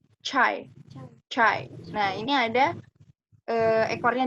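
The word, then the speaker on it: çay: C, bacanya seperti C yang ada di kita. C. Chai.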